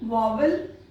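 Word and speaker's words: vowel: वावल correct pronunciation है वावल।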